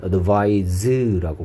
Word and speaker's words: advise: C가 아니고 S로 바꾸면 발음은 advise라고 발음하고 충고하다라는 뜻입니다.